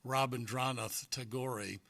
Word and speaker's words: Rabindranath Tagore: There was an Indian poet, and I'm going to say his name wrong, but it's something like Rabindranath Tagore. He wrote... Actually, you're right. Is that right? Yeah. Wow. I'll write that down. I got one right for a change. I put the emphasis on the right syllable.